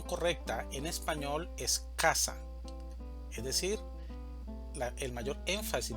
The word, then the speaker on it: casa: Casa. La mayor fuerza de voz la hacemos en K, en la primera sílaba, casa. Si esta mayor fuerza de voz estuviera en la segunda sílaba, diríamos casá.